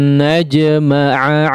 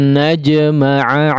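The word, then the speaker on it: نجمع: Baik, di sini ada dua huruf ain ya. Dua huruf ain yang berdampingan ya, berdekatan, maka diucapkan ya keduanya betul-betul huruf ain ya. Tidak cenderung salah satunya menjadi hamzah atau malah dua-duanya.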